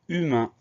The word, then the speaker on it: humain: mot c'est le mot humain la première syllabe on entend une on fait attention il y à 1h au début du mot donc on pense à mettre ce h qui est une lettre muette évidemment qu'on entende la